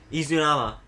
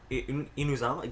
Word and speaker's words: Inazuma: How do you say it? Izunama. Inazuma? Did I misspell that? Did I seriously misspell Inazuma?